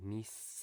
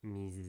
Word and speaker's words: mis: But since here the S is between two vowels, it should be just a clear S, like it is most of the time in Spanish. So mis experiencias, not mis experiencias.